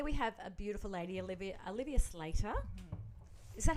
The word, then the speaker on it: Olivia Slater: So today we have a beautiful lady, Olivia Slater.